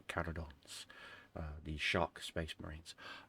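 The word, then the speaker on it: Carcharodons: Uh, I love the whole premise and idea of the carodons, not sharkons as some people pronounce it. There's no H. It's carodons.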